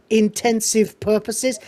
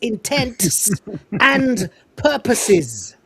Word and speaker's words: intents and purposes: I especially hate it when people don't even know how to say the phrase and they say intensive purposes. It's intent and purposes, right?